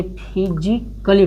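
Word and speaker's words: physically: ए है, ए का LLY के पहले आया है, ए LLY के पहले आया है, तो इसको क्या पढ़ेंगे? फिजिकली पढ़ेंगे।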